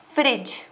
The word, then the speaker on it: Phryge: क्या हो जाएगा, ओलंपिक फ्रिज। ठीक है, वो वाला फ्रिज नहीं है, रेफ्रिजरेटर वाला, स्पेलिंग देख लो फ्रिज की, PHRYGE।